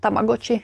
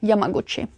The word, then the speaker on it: Yamaguchi: Uh, she's called Yamaguchi. Not Tamaguchi. Yamaguchi.